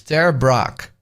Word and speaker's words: Ter Braak: my name is my last name is Dutch but I'm I'm going to have and try see if you can pronounce it it's Terra Brock Terra Brock good enough